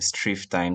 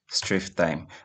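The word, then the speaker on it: strftime: So the first of them is STROF time, strift time. So that's how I pronounce it, but actually stands for string format time.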